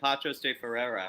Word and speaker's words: Paços de Ferreira: I'm saying Paços de Ferreira. How would you say it? Do you even know? I mean, you might not even know. I think you said it perfectly. Paços de Ferreira.